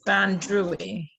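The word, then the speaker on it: bandrui: you pronounce it kathy i think it's band druitty but like maybe i drank too much germ buoy in my day i'm not sure but i'm pretty sure that's the pronunciation but it is the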